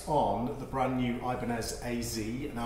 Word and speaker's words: AZ: of the brand-new Ibanez AZ now I'm saying a Z even on British because that's how the Japanese to pronounce it so that's what they're